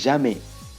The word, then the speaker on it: jamais: Then we have the third one, which is jamais. Jamais. Don't say jamais. I've said we don't pronounce the last S. It appears at the end of the French word.